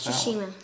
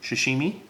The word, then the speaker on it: sashimi: Seche says she MA how do you pronounce she machine sashimi okay so she's Shima okay